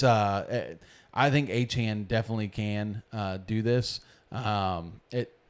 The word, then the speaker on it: Achane: A-Chan is how he likes his last name to be pronounced.